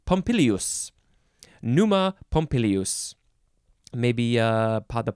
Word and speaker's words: Pompilius: Roman King named Numa pompilius oh I said it wrong there's another I in there pompilius pneuma pompilius maybe uh